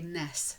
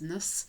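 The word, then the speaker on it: -ness: its own would say nes sometimes it's pronounced slightly differently as nus and you'll see so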